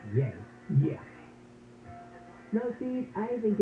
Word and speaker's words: Ye: pronounced well in this particular instance it is pronounced yay yeah no see I think of it as